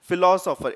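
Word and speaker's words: philosopher: फिलोसोफर, it starts with N pronunciation of एफ, फिलो।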